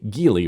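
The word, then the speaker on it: Geely: Their sale rose 11.5% but another Chinese company, Gily, or Jelly as some pronounces, is growing even faster.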